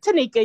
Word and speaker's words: Tanika: How do you say your name? It's Tanika. You said it right.